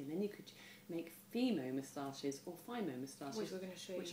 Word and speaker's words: Fimo: is a craft material which I pronounce Fimo and some people call it Fimo but it's basically polymer